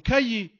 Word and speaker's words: cahier: Euh, il faut pas confondre avec le K et le Q parce que le C peut aussi être un K comme cahier, comme cartable.